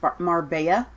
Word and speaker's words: Marbella: pocket so uh grandpas assess Leah Marbella is pronounced Marbella okay sooner the Brit says that's mr.